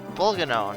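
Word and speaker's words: Bolganone: Pronounced Bulganon. It was pronounced Volcanon at some point, though.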